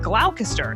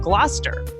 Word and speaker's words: Gloucester: Like originally I said Gloucester instead of Gloucester.